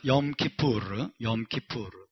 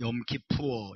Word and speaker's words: Yom Kippur: 자, 오늘은 염키푸르, Day of Atonement, 속죄일이라고 불립니다. 함께 해볼까요? 염키푸르. 예, 염키푸르인데 미국식 발음은 염키푸어 이랍니다. 염키푸어. 미국 사람들은 르를 못해요. 르를. 염키푸어 이랍니다.